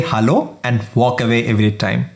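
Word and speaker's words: Hallo: Hello. You know what it is. But if you look closely, it's with an a, not an e. And if you remember, a is a in German.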